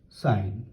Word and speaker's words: sin: as s i n though you write s i n but the pronunciation remains sine next one this is